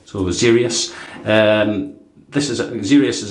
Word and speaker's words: Xeryus: going to pronounce it Zerius. Zerius. See, there's an X and there's a kind of E hidden in there as well. So, Zerius.